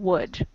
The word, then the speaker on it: would: Okay, we have in should and would, it is the L, it is silent. But in mold, no, it is not silent, I think. Exactly. Mold, we pronounce the L. In should and would, we do not, it's silent.